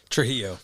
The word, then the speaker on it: Trujillo: Trujillo.